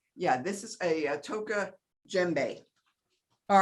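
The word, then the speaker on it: djembe: this is a toca gembe all right you don't it's print it's spelled d g a d j e m b e you don't pronounce the d so let's take a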